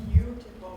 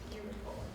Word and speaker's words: beautiful: if a student says but we don't say betiful we say beautiful yes we don't hear for so in speech